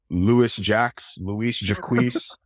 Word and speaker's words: Louis-Jacques: Louis-Jacques, the S's are silent. Say it like in French.